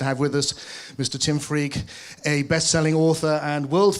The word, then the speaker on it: Freke: thank you hello so my name really is pronounced freak and if you can